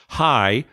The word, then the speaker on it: Jai: Hi, Jai, and Alai. Alai. Alai. Yeah, right. So the J sounds like an H sound.